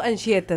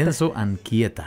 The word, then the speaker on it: Anchieta: Enzo, ayúdame a pronunciarlo, Enzo Anchieta, ¿cierto? Enzo Anchieta.